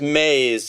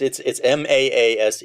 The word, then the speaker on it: Maas: Is it pronounced Moss? It's Mays, and Mays. When I first met him, he said it's like moose with 2 A's, and that's the best way to remember it. But it's Maase, and he still teaches